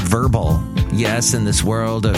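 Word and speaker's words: Vurbl: So Verbal is not spelled V-E-R-B-L-E, it's spelled V-U-R-B-L.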